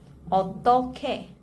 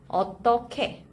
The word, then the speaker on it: 어떻게: The spelling looks a bit unfamiliar with 히읗 in the second syllable, but this you pronounce it like this. 어떻게. 어떻게.